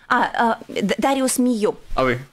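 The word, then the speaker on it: Darius Milhaud: французский комплекса дарья имею дариус мийо это просто я транскрибируются русских да потому что есть равно как бы здесь и латвийское произношение и в данном случае ты назвал по-французски да а папа русский композитор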